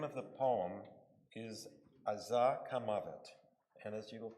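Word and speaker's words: עזה: Azah is how you say Gaza in Hebrew.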